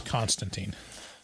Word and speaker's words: Konstantin: For the record, I think the pronunciation is Constantine. Constantine? Mm-hmm. Constantin? Mm-hmm. Constantine. Constantine. Like Constantinople. Yeah.